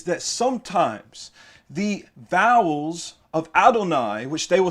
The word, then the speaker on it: Adonai: spelled without Holland so with or without halam is still pronounced Adonai they do not pronounce it adni you know they know